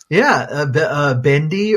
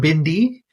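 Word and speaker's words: bhindi: Yeah, so for those non-Hindi speakers out there, bendi or bindi is the pronunciation. That's the what we say is Hindi word for okra.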